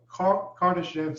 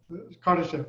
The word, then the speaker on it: Kardashev: That is how you pronounce it, Kardashev skip. Kardashev, yeah.